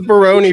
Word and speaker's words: Baroni: three minutes Veronica it what is Baroni rhyme with just say it with me Josh jabroni I don't think Roni